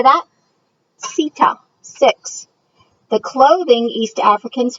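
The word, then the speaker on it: sita: the grassy savanna lands six is pronounced Seto can you say that Seto six the clothing East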